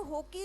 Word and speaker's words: Hoki: ये जो है डॉक्टर सादेव होकी जो थे, इनका स्पेलिंग है सादेव, SADAO। सादेव होकी जो है, होकी HOKI, ये जो है एक